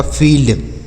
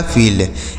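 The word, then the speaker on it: field: एल से ल और डी से ड लिखा है आपका फील्ड। क्या लिखा है? फील्ड।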